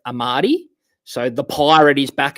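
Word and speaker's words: Amartey: I go with Armati instead of just Amati.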